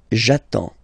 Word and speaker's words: attends: So the first form will be j'attends, j'attends. Okay, you get D and S, well, basically you don't pronounce them, okay, and then you get only the sound attends, nasal here, en, j'attends, okay.